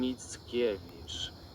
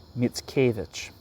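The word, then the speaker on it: Mickiewicz: Adam Mitskeich. Mitskavich.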